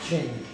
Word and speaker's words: Qing: You have then what looks like the Qing Dynasty, but I'm told it's pronounced Qing.